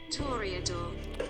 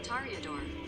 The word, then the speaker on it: Toreador: Toreador. Toreador is British pronunciation. Toreador. Toreador is the American pronunciation.